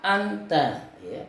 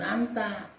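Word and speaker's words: أأنت: itu dikasih Alif lagi huruf alif di depannya lagi Jadi dibacanya aantrade bukan Anta aanta rojulun Samin Um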